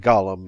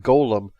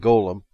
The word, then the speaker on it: golem: on oxford online and it's pronounced golem in both the american and british versions so i'm gonna stick with golem anyway golems would be